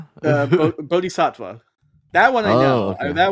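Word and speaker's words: bodhisattva: Is it Wait, is it pronounced like batis badava? Uh bodhicattva.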